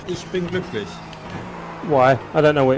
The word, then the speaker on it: Glücklich: Say it again, say it slowly. Glücklich. Glücklich. Yeah, something like that. Spell it. G-L U, like U. You Yeah. don't have that. You don't have that in English.